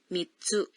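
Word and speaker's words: 三つ: Cara pengucapan sebagian angka berubah saat diikuti oleh tsu. Betul. 3 adalah, 3、 namun jika diikuti oleh tsu menjadi mitsu.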